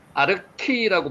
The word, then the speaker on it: 알가: 자, 알가, 아르키라고 발음이 됩니다. 여기 아르키라고 발음이 되죠. 아르키.